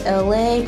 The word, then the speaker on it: ELAY: So I'm saying off this to say, hello, my name is ELAY, pronounced like LA like the city.